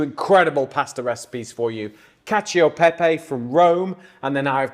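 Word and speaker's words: cacio e pepe: thank you right cacio Pepe we've had a little debate in here on how to pronounce it and we've we've we've settled on cacio Pepe haven't we yeah yeah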